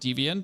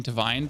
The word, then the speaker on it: Deviant: Well, the problem is, like, I know that it's pronounced deviant, or I thought it's pronounced deviant, but I keep saying divine because, well, welcome to Germany.